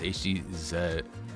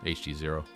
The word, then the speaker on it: HDZero: Robert, HD0 is HDZ in the UK. Is HDZ? That is a great question. I don't think so because it's spelled HDZERO. That's their logo. It's a great question. I don't think so. I think it's HD0.